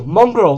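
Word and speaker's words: Mongraal: Oh, Mongrel, that's it. Yeah, it was him. Mongrel, that's it. Spelt with a double A, so Mong, and then Ral, or Ral, whatever you say it.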